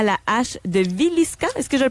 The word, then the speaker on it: Villisca: Tu vas nous parler des meurtres à la hache de Villisca. Est-ce que je le prononce bien?